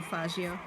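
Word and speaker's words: Faggio: next to the blue fagio exactly that is how you pronounce it by the way yeah I mean you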